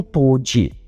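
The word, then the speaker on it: 唐手: para o karatê, e os caracteres chineses na palavra nem mesmo eram pronunciados por eles como karatê, mas sim como toji, vindo a se tornar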